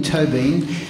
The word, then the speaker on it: Tóibín: and he said well it's toe as in toe and bean as in Bean to Bean and then I listened